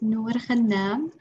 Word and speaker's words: Noor Ghanam: So my name is Noor Ghanam. In Arabic, it's pronounced Noor Ghanam.